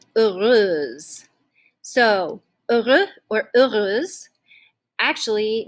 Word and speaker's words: heureuse: Which is related to this adjective heureux, heureuse, oui, okay? And just another note with this, we do not pronounce the H at the beginning, okay? So it's actually silent.